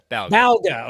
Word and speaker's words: Balga: I feel you on that one uh Chris balga am I saying your last name right Bal B balga okay there you go I wasn't sure because